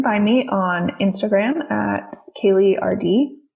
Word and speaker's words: Kaely: me on instagram at kayleerd my name is spelled weird for kaylee it's k-a-e-l-y and then my website's